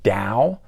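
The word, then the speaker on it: Tao: 80s like the album Dao pronounced with a d yes it is t-a-o but the Chinese pronunciation has it sounding like a d so they said it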